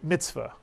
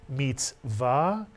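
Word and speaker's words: מצוה: You'll hear people say mitzvah, but the actual pronunciation in Sephardic Hebrew is mitzvah, and it means commandment.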